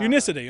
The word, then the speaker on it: Unicity: Unicity or how do you say it it's pronounced Unicity yeah Unicity okay yeah I produce for them and I